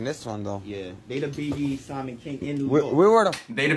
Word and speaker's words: B.B. Simon: tell me that it's BB Simon BB Simmons sounds stupid it doesn't even have an S it's not even plural come on now say